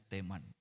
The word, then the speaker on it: Teman: Ini ada tandanya itu, jadi bacanya Teman.